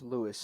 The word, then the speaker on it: Louis: uh I forgot if his name is pronounced Luis or just Louis but you have the whole with him and the worth it's Lewis of a beast star Lewis um and I